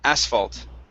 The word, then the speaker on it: asphalt: water M very good this word here is pronounced asphalt the stress is at the beginning of the word asphalt asphalt mhm very good okay